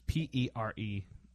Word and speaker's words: Perepeluk: It's Perepeluk. So Perepeluk, and if you say it fast, Perpeluk.